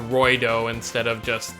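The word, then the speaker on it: ロイド: because obviously you know the way you pronounce Lloyd in Japanese is kind of with an R I get to Roy doe instead of just like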